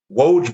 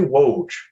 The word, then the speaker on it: Woj: so don't try to pronounce it just say loge just say if if he tweets something about a trade or something woage bomb we all know what that is you